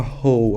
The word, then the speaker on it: whole: significa essa palavra ho Olha a palavra ho apesar de ter o w não pronuncia ho quer dizer inteiro né